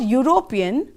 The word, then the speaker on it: European: european football player here the word european sounds like you the beginning of european when you say european you say you right and again it begins with the consonant sound y and so we have